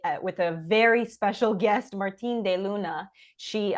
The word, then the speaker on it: Martine De Luna: guest Martin deuna she I pronounce that Spanish even though it's French sorry um it's a mix my first name is H French and my my surname is Spanish okay perfect then I pronounced it correctly you did so